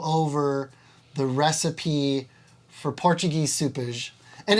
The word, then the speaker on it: sopas: the recipe for Portuguese soupage. And it's spelled S-O-P-A-S, like the English translation, so you think it'd be sopas. Yeah, but there's like an H in there that doesn't exist, but you say it.